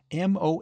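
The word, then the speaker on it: Moffam: time I told you father it's Mo M it's spelled m o f f a m but pronounced Mo to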